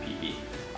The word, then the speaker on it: Phi Phi: Everyone in Thailand pronounces it Phi Phi, which is kind of funny, but that's how it is.